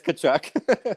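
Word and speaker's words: Tkachuk: must be um Matthew kachuck uh theal kachuck kachuck I'm pretty sure it's t no no it's kachuck no you're definely wrong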